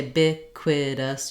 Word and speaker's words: ubiquitous: says the uh sound so i've divided that here by putting the bic the k sound here on this syllable and the wha sound in the next syllable biquid us um you could also say big quiddus you could divide it in another place but i think seeing